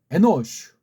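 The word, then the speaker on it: אנוש: 또 다시 아담 에노슈 이것도 마지막에 모음이 없잖아. 그래서 슈라고 해야 돼요. 신자가 마지막에 오면 이걸 쉬라고도 하는데 그건 틀린 발음이에요. 슈라고 해야 맞습니다.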